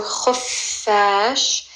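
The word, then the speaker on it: خفاش: This letter kh, it's kind of like a snoring sound, like, you know when little kids pretend to snore? It's not really a gargling ghain, but it's similar. It's a kh. So kh, then as in look, kh, then f. Just like the letter F in English. So khuffash, and you want to emphasize the letter fa.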